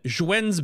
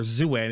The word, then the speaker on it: Zhuen: So then Zhuen's battle gear, or Zuen if you pronounce it wrong, is your tier 20 right now.